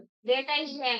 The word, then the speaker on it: data: डाटा ही तो हो गया, वो आजकल लोग उसे डेटा बोलते हैं। नहीं बोलते हैं, मेरा फेवरेट मुझे डाटा बोलते हैं। वो गलत प्रोनाउंसिएट करते हैं, गलत प्रोनाउंस करते हैं। उसकी प्रोनाउंसिएशन क्या है, डेटा ही है।